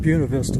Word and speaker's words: Buena Vista: That's also like with Buena Vista. It's spelled Buena Vista, but they call it Buena Vista. And there's a couple other towns like that.